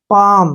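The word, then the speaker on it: palm: हो गया शांत जैसे पी ए एल एम फिर आ गया एम से पहले क्या आ गया एल एल साइलेंट रहेगा तो पी ए से बना पा और एम से बना म पाम क्या पढ़ेंगे पाम पाम का मतलब क्या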